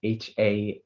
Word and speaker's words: Hanaster: Sorry, Hanister is Hanaster. They're all not Scrabble words.